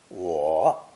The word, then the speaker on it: 我: The fourth character in today's lesson is the most common word in nearly every language, the first person singular, I or me. Pronounced third tone, wo.